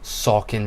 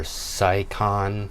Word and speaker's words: Saucon: to talk about is the way that we pronounce things. First up, we have Schuylkill, Saucon Valley, or Sycon if you're not from here.